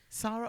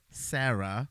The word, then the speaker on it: Sara: Sarah or Sarah? I think it's Sarah. It's spelled S A R A. Yeah, I think they still call her Sarah.